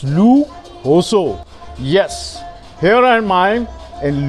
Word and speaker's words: Lujoso: I am in Lu Jo So, and in Spanish it's Lu Hoso.